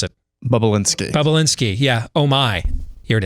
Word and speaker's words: Bobulinski: How to pronounce it. Bobulinski.